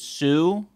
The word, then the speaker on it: Sioux: But I had always been told that the O-U-X is French. It is. And it's pronounced with the O sound.